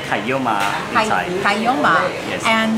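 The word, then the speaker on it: ไข่เยี่ยวม้า: In Thai we say kayoma in Thai.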